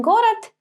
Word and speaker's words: город: So in город, it's actually going to be t, город.